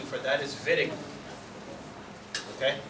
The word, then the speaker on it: Wittig: Pronunciation for that is Wittig.